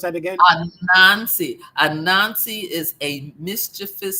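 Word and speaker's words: Anansi: It's a Nazi. Say that. Pronounce that again. A Nazi.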